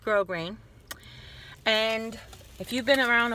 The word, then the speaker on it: grosgrain: it like roast green see that but it's pronounced grow green and if you've been around a while you